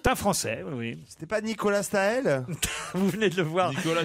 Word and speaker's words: Staël: Non, on ne prononce pas de Comme Staël. madame, comme Parce que madame. On dit Nicolas de Staël.